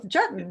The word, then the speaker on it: Juetten: Oh, Juetten rhymes with button.